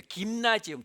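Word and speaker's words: Gymnasium: 그래서 우리가 그 체육관을 뜻하는 그 단어가 우리 영어로는 그냥 짐이라고 짤막하게 부르지만 실제로는 짐나지움에 김나지움, 독일어로 김나지움이라고 읽거든요.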